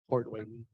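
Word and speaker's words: Port Hueneme: Port Wainimi. Whiny. That's how you say it.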